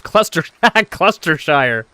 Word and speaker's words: Gloucestershire: Isaac says cluster cluster shire. Sheer not shire.